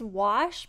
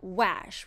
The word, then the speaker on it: wash: is spelled this way after the letter W the letter A can make the ah sound so this word is wash but it is not wash which is what we're